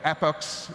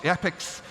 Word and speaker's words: epochs: i have model.fit where epochs epochs epics depending on how you pronounce it is a hundred